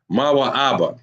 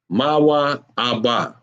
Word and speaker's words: Moab: Moab is what and that is pronounced ma ABA ma ABA you see that Ma